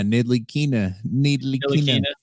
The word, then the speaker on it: Ntilikina: Yeah, Ntilikina.